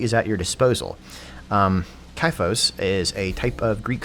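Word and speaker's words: xiphos: at your disposal um kaifos is a type of greek sword and i remember that because it's the chi rho so the x is pronounced as a k ancient greek tip of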